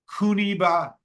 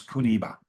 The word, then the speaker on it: Kuniba: And Kokuba is the Okinawan way to pronounce Kuniba. So Kuniba, if you come out